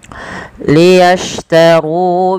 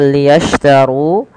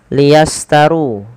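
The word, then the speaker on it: لِيَشْتَرُوا: liyastaru bihi tsamanan qolila syin pada lafal liyastaru ya hati-hati dalam melafalkannya jangan sampai terlafazkan dengan liastaru ah di sini harus berbunyi dengan syin e ya as bukan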